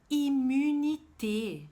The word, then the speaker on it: immunité: Immunité. Voilà, immunité. Attention à la prononciation du U.